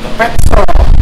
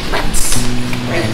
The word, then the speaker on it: Petzl: Belum tahu apa itu mereknya Petzl. Ya. Mereka nyebutnya Pets. Bacanya kan pakai ZL. Saya bilang, Pak, itu bukan makanan binatang, bukan makanan kucing. Saya bilang, itu spellingnya Prancis. Oh, itu Petzl, saya bilang gitu.